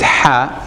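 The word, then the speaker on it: ح: Ha is a letter that is not in English. But if you can pronounce it, fine. If you can pronounce it ha, this is very good. If you can't pronounce it, try to pronounce it as you would the H.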